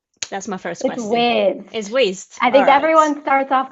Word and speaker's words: Wized: web apps using waste I think you pronounce it waste some people say wise let me know how